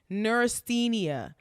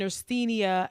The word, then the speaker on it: neurasthenia: the name of I just looked this up nenia now that's spelled NE u r a s t e